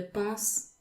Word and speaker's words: plus: pronounce the s well there is actually a case where you need to pronounce the s of proofs as an